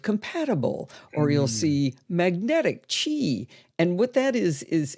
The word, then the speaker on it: Qi: very few ch2 Chargers that's spelled Qi and the number two slapped right up against the word chi and I'm saying it that way because it's really important because it's going to be confusing yeah so it's already confusing that it's spelled with a Q all right like right